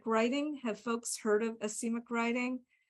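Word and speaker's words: asemic: have folks heard of acemic writing so acemic writing it's spelled ase mic acemic and like a lot of words it's from the greek yep that's it evaea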